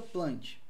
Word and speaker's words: Plantae: meta fita tanto faz ou reino plante na inscreve-se plantar mas a gente pronuncia plante e quais as características